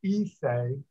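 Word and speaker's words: Issei: japanese used the term it's spelled i-s-s-e-i um pronounced ise to denote the first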